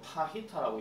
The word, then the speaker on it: fajita: 이걸 뭐 파히타라고 얘기하죠. J 발음 안 될 때가 있으니까.